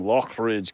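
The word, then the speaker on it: Loughridge: And that's where the name Lockridge comes from. It's more of a guttural. It's pronounced l o c k, but it's actually spelled l o u g h, which I believe is German from what I understand.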